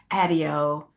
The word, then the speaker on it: Adio: It's Adio, like patio.